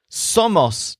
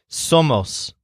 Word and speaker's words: somos: comes out like this so most tall people so somos means we are and it sounds kind of like some of us remember to stress the syllable that is som so it's somos now before moving on